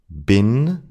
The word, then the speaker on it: bin: According to the rule that I just mentioned, in and bin should be pronounced with a long e, but they're not. I b been in berin.